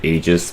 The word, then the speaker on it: Aegis: Yes, I know it's technically Aegis, but I prefer Aegis because I just think it sounds cooler.